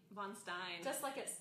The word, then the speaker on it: Von Stein: Von Stein. That's just how it looks.